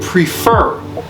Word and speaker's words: prefer: what does that mean prefer now do prefer okay prefer see the stress is on the second syllable or the final one since this one has only two syllables prefer pre prefer right